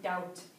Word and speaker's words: doubt: be careful here that b is a little bit tricky you don't pronounce the b right doubt I think you've seen